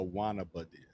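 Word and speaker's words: Guaynabo: You don't you don't pronounce the G. Okay. A wannaba.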